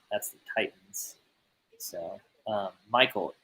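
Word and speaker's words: Mycole: from Ryan tanah Hill because when I said MCO uh Michael puit oh that's Michael wow what a weird way to spell that good job parents um okay that's Michael Pro it you were probably thinking like who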